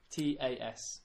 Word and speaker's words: tas: TAS. TAS. So it's pronounced ta.